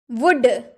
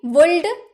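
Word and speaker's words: would: यानी कि जन समूह वुड वुड वुड हम बोले हैं कभी वुल्ड एल साउंड हुआ है कभी नहीं ना वुड हम बोलते हैं क्यों क्योंकि एल तो साइलेंट है इसीलिए वुड यह विल का पास्ट फॉर्म होता है।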